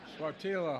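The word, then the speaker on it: Sáttítla: I mispronounced it the first time. Sattitla Highlands in Northern California.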